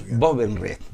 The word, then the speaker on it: Bobenrieth: ¿Cómo se pronuncia acá? Bovenriet.